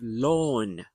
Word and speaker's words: lawn: And then you have lawn. The green lawn in front of my house. Lawn. It sounds like law.